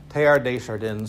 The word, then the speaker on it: Teilhard de Chardin: So, for example, Teilhard de Chardin, so it's pronounced, it's spelled like tail hard, but anyway, Teilhard de Chardin, so he would talk about the cosmic Christ.